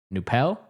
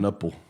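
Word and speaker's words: Knueppel: No, I think it's the K is- Knuppel. There's no swear. way it's pronounced Bro, like every that. time I would watch the game, that's how they would pronounce anytime Duke I feel was like playing. the K would be silent.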